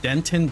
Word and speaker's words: Denton: in a place called Denton Texas I mean guitar player just tipped today right hey that rhymes with Ron so it's called Denton it's called Denton Texas it's full of a ton of dents and I'm just like